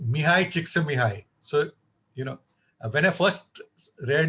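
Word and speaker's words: Mihaly Csikszentmihalyi: And if you want to know how to pronounce his name, it's Mihai Csikszentmihalyi.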